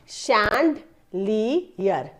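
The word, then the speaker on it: chandelier: इसका प्रोनंसिएशन है देखो शैंड लीयर शैंडलियर शैंडलियर शैंडलियर मैं फिर से बता रही हूं सी एच है श का साउंड आता है तो यहां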